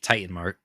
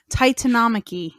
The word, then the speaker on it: Titanomachy: This kicks off the I believe it's called the Titan Marky. Titanomachy. Wow. Titanomachy? She made that flawless. Titanomachy is how it's pronounced.